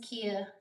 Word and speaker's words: Kia: Um um Yeah, so my name is Kia Kia. That's how you say it.